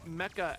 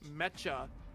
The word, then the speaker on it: Mecca: what it is I had one audio book pronounced Mecca as metcha oh my God and I had to listen